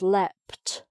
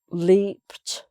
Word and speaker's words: leapt: So a verb ending P, even when it's written ed, is pronounced leapt with a T sound. Leaped, leapt.